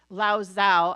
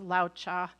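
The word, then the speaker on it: Laozi: wrong I think it's I always want to say laoz Zao I think it's pronounced Lao cha uh and you guys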